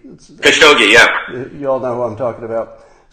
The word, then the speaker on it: Khashoggi: So the latest news is, and I'm not really good at pronouncing the victim's name here, Khashoggi. Khashoggi, yeah.